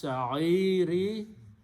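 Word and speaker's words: السعير: When you stop, last letter you do not pronounce the harkat on the last letter, ra with a kasra. Instead you pronounce this, don't write, they pronounce as a sukoon.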